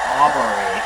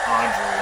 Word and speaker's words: Aubrey: It's Aubrey, not Audrey.